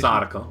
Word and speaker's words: Sadako: Is it Sadako? Is that the correct pronunciation? Sadako, yes. Okay.